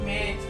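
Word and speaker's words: match: मैच मैच नहीं मैच क्योंकि सी के बाद अगर एच आ जाए तो t का कोई वैल्यू नहीं होगा कोई मतलब उसको पढ़ा ही नहीं जाएगा कोई वैल्यू नहीं दिया जाएगा तो t साइलेंट होगा तो इसको क्या पढ़ेंगे मैच तो नेक्स्ट हम क्या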